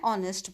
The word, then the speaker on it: honest: For example, an hour, an honorable person, an honest boy. In each of these cases, the letter H is silent.